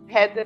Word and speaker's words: Reder: Header é R-E-D-E-R. É isso. Se escreve como se diz mesmo.